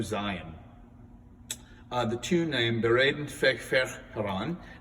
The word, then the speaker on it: Bereden väg för Herran: beraden feig fer haran now i pronounce that in the german pronunciation it's actually it's swedish and i don't i'm not good with swedish so if you know how to pronounce it i hope i didn't offend you um this advent hymn